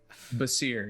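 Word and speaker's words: Bassir: Basir, yes, B-A-S-S-I-R. Basir.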